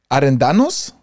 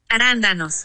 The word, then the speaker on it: arándanos: Arendanos? Arendanos? Arándanos. Arándanos. Arándanos.